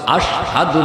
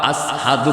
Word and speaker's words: আশহাদু: এজন্যই বেলালের, এই জন্যই বেলালের জবানে একটু কথা বাসত, আশহাদু বলতে পারতেন না। আসহাদু কইতেন, শিন উচ্চারণ করতে পারতেন না, সিন বলতেন, সিন বলতেন।